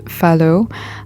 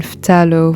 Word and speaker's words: phthalo: I just checked and it's pronounced phthalo, and I've been saying phthalo for a long time.